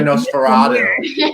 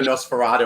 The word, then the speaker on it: NOS4A2: It's very Nosferatu. I'm gonna like dig back into Nosferatu after we finish talking.